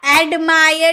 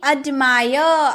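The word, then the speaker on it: admire: एडमायर नहीं, अडमायर। आप उच्चारण देखिए इसका, अडमायर मीनिंग होता है तारीफ करना।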